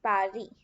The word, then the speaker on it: Paris: The capital of France is Paris, but in French we pronounce it Paris.